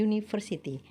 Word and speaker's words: university: nya adalah beautiful city walaupun tulisannya diawali dengan huruf u huruf vokal tapi cara bacanya ini University acara pengucapannya itu diawali dengan bunyi konsonan member penjelasan sebelumnya artikel